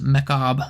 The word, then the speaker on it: Macabre: which is an awesome sniper rifle aggressive frame Macabre a little little pun there on a fun word I'm sure a lot of people have probably been mispronouncing that but yes it is pronounced mechab so uh very funny we actually we need